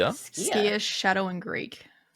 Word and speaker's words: Skia: The way it's pronounced as well is very like you kind of hiss hiss out the word.